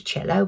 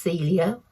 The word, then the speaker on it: Celio: I thought it was cello, but it's Celio.